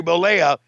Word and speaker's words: Bollea: How do you pronounce his name? Terry Bollea.